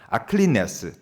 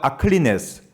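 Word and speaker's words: ἀκλινής: 이 움직이지 말라는 개념이 헬라어에서 많이 나오는 개념인데 여기서 헬라어가 나오는데 읽어보면 아킬네스라고 읽을 수 있어요. 아클리네스. 따라해볼까요? 아클리네스. 좋습니다.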